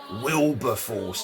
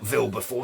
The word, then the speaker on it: Wilberforce: just for the record it's pronounced wilberforce not vil before still before it's a very german way to say it constable you